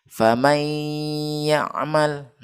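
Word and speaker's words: فمن يعمل: Maka cara bacanya adalah famay ya'mal. Ketika kita sebut famay, itu dalam keadaan hidung tertutup ya.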